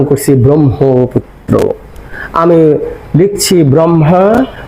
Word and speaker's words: ব্রহ্মপুত্র: ব্রহ্মপুত্র করে না করে আমরা ব্রহ্ম আগে ম পরে হ বলি কেন সেই কথাই কিন্তু